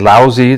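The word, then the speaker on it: Laozi: dynasty philosophers confucius and lousy that's how you pronounce that these philosophers were deeply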